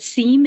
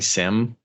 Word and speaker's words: SIEM: how to pronounce them s-i-e-m is it Sim is it seem is it sem what is it it is definitely Sim uh so it I'll